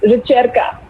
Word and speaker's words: Ricerca: So It's pronounced ricerca.